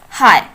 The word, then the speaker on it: high: Next word is high. Here the silent letters are G, H.